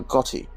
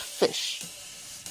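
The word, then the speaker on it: ghoti: actual pronunciation for instance what do you think this word is pronounced well you might think first of all as a gotti or got high maybe but no it's not it's actually another word for fish it's pronounced fish but why that's because in enough the gh makes the f sound in woman o makes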